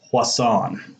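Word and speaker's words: Poisson: plus on probability distributions this term right here is pronounced plus on when we get into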